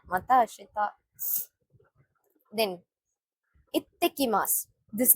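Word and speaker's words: いってきます: We have to stress the next letter.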